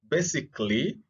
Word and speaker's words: basically: you'll realize that uh after forming the adverbs the a uh the a is silent that is the uh the a that is coming just before uh you know letter L so again we